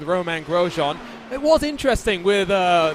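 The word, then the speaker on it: Romain Grosjean: for i i guess we've got to go over all the different ways that the broadcasters pronounce it his name but we'll stick with roman grosjean it was interesting with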